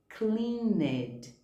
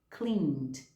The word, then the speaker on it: cleaned: ler esses verbos aqui, a gente acaba falando helped. A gente lê esse ed no final. Ou a gente fala called, worked, cleaned. Quando na verdade a pronúncia é helped, called, worked, cleaned.